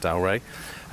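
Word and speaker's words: Dalry: told this morning is how to say it, Dalray.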